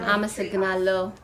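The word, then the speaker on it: አመሰግናለሁ: Amasagnalo.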